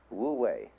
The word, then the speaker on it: wu wei: It's called in Chinese Wu Wei. Wu, non-wei, striving. In Japanese, Mui. I is Japanese of pronouncing the Chinese Wei.